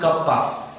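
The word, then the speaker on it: κ: Symbol pronounced as kappa.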